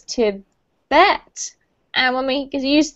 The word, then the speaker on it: Tibet: than natural um tibet we put the emphasis on the second syllable for tibet so it's to bet and when we could